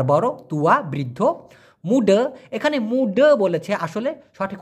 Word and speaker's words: muda: kecil ছোট besar বড় tua বৃদ্ধ মুডা এখানে মুডা বলেছে আসলে সঠিক উচ্চারণ হচ্ছে মুডা এই যে মুডা হ্যাঁ ক্লিয়ার ব্যাপারটা না বুঝলে অবশ্যই প্রশ্ন করবেন Faham?